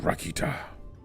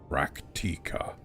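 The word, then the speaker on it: Rak'tika: Here in Rakita. Raktika. There you go. Yeah, I realized I said it wrong.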